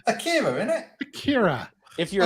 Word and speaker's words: Akira: It's Akira, isn't it?